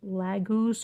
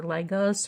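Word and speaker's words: Laguz: The letter associated with this card for Miss Abby and the rune is called Lagus. L A G U Z or Lagus or Legos or however you want to pronounce it.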